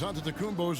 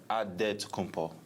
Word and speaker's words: Antetokounmpo: In the Nigerian way, you gotta say it with a D, so it's Antetokounmpo. But in the Greek way, you say it with the NT, like Antetokounmpo.